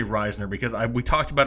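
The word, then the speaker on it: Risner: er there's a risen Errol Reisner I've been pronouncing it rising okay well we're gonna say Reisner because I we talked about it before the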